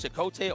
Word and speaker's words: Chote: Keep you know I I took a while to say his name cuz what is It's is it's Chote or El uh uh Chakote. It is Chote and it's actually a Star Wars ref I mean uh Star Trek reference.